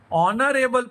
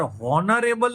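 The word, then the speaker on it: honorable: ही is blank ऑनरेबल person. यहाँ पे भले एच लिखा है, पर हॉनरेबल नहीं बोला जाता। क्या बोला जाता है? ऑनरेबल पर्सन, यानी ओ से प्रोनाउंसिएशन होता है, यानी क्या आएगा?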